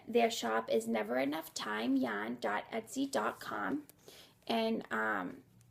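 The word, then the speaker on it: Thyme: shop is never enough time jaan etsy com and um time is spelled with a th y so please check them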